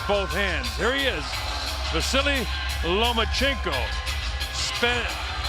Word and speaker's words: Vasyl: much power with both hands here he is vasily lomachenko spelt v-a-s-y-l pronounced vasily gives all the credit to his dad it's